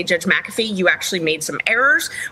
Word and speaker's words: McAfee: Supreme Court Days Later maffy McAfee sorry I've had you guys correct me on the pronunciation of his name that it's McAfee I've been doing that